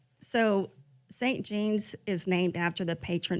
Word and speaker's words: St. Jeanne's: It's pronounced. So St. Jean's is named after the patron saint, Saint Jean Jugan, who was a French nun.